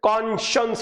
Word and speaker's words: conscience: इसका pronunciation कॉन्शियंस होता है, कॉन्शियंस, ठीक है।